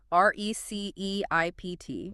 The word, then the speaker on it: receipt: Vej, tubul, or my favorite, receipt, R-E-C-E-I-P-T. Why is the P there? It does nothing. It's purely decorative. It's silent. It's receipt.